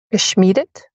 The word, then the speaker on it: geschmiedet: I.E. pronounce the second one. Geschmiedet?